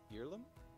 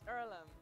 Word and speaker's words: Earlham: what opportunity can do is it heirloom is it pronounced earlham it's earlham and it's a place